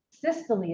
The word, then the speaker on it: systole: Systole is how you say that.